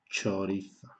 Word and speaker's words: chorizo: se escribe dos letras la c más la h la cee no es como un hace ni conseguirá de a a un y seguida de que iu y la h no es muda en este caso es representa este sonido i blava una palabra por ejemplo chorizo de chorizo así se escribe y